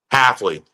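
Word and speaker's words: Hafley: pretty surprised at the demand of and I mispronounced the guy's name. Jeff uh H healthfully Halfley. Halfley.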